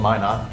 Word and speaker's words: Minot: uh so uh we're called Min not and uh that's m n o t it's frequently mispronounced uh because nobody knows what Min not